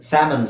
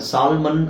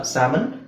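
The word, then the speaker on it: salmon: ಆಮೇಲೆ half, ಪಾಮ್, ಸ್ಯಾಮನ್, ಸಾಲ್ಮನ್ ಅಲ್ಲ, ಸ್ಯಾಮನ್.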